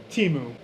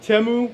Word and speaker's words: Temu: video is brought to you by temu or teu actually pronounced temu but a lot of people just say timu cuz I think that first commercial said teu